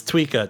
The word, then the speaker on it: Tweeka: Is it Tweeka or Twyka? Am I saying it wrong? It's Tweeka. T-W-E-E-K.